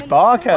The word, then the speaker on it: Bakken: It's not Bakken, it's Barken.